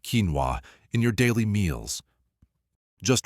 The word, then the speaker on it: quinoa: Pronounced quinoa, this tiny seed has earned its reputation as a nutritional powerhouse, and for good reason.